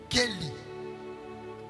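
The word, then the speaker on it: כלי: Ça s'écrit mais ça se prononce Kelly.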